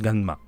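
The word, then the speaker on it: ガンマ: Je lis en japonais Ga-ma. Donc il y a un N, je rajoute le N. Donc au niveau de la prononciation, moi je le prononce Ganma. En japonais, tout simplement.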